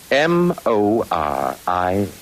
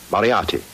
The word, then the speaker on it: Moriarty: I'm afraid I'll have to begin calling it the way it looks. M-O-R-I-A-R-T-Y. Moriarty. Moriarty.